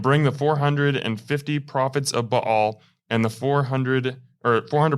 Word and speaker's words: Baal: So what we're setting up here is a major confrontation uh between Bal who it's commonly referred to as Bale, but uh Mike I think you got the correct pronunciation on that.